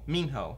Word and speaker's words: Minho: I said Minho when I read it in Mingho. my head. Minho? Mingho. Minho. That's how they pronounce it in the book.